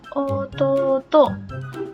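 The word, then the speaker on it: おとうと: Adik laki-laki ini disebut dengan otot too. Ada U jadi dibaca panjang otot to.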